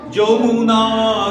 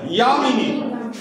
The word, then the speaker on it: যামিনী: ঠিক আছে, আবার দেখো যখন জনগণ করছে তখন হচ্ছে বিন্ধ্য হিমাচল যমুনা গঙ্গা। ঠিক আছে, এখানেও জ এখানেও জ, এখানে উচ্চারণ করছে যামিনী নয় ইয়ামিনী।